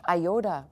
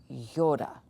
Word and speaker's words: iota: going to say it the way we have grafted it into our English iota but that's not the way you say it in Greek Yoda so just forget about the I there in pronunciation Yoda here you can